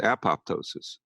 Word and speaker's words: apoptosis: up following EMF exposures what's called apoptosis sometimes pronounced apoptosis programmed cell death goes